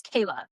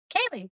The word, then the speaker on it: Kaylie: I think it's Kayla. Is it Kaylee? Kaylee.